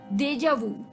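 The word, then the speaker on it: déjà vu: सुन रहे हैं vocabulary dose with RJ Divya Sharma and बात कर रहे हैं हम आज स्मार्ट वर्ड्स की।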